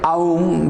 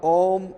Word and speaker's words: Om: utter like Aum, but A and U combined becomes O, therefore Om is, that is why we utter commonly Om.